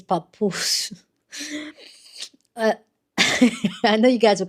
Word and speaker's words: Papoose: I know I'm pronouncing that name. It's papoose.